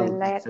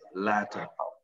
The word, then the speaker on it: latter: C'est pas letter, c'est the latter.